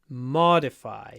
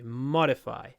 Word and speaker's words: modify: modifications to modify modify try to do a nice long M followed by quite a short a mod modify modify the next one our